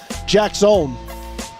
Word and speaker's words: Jaxon: Jackson, it's 2 syllables. So Jax, J-A-X, and son, like if you were to really get technical with J-A-X-O-N, Jackson. Jackson.